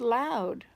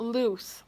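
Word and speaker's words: Louth: Oh, it's pronounced loud. It's not loose.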